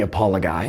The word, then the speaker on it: Apologoi: Books 9-12 are called the Apologoi (uh-PAH-luh-goy) - this is Odysseus giving a first-hand account of his supernatural encounters on his travels.